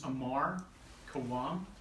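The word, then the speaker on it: Ammar Khawam: My name is Ammar Kawam. That's spelled A-M-M-A-R K-H-A-W-A-M.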